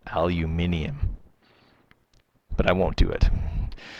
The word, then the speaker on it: aluminium: okay or it's actually now supposed to be pronounced aluminium but I won't do it so aluminum because they've actually changed the spelling if you